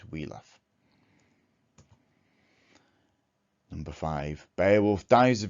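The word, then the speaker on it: Wiglaf: defeated the dragon together i looked up how to pronounce the wheatlock because i said wiggle off for years and apparently it's wheeloff number five beowulf dies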